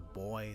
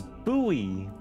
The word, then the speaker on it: buoy: So, it's a boy that doubles as a lighthouse. Why do you keep saying boy? It's buoy.